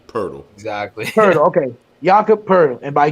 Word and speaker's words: Poeltl: It's like if you said turtle. It's turtle, but with a P. Turtle. Exactly. Poeltl.